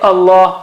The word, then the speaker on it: Allah: Like fatha case, we just saw it, Allah or wallah, wallahi, and you say it like the English word something like law. You practice law or lawyer.